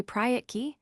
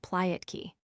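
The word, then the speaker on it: прятки: "Mamochka, let's play Pryatki, hide and seek," cried Lelechka, pronouncing the R like the L so that the word sounded Plyatki.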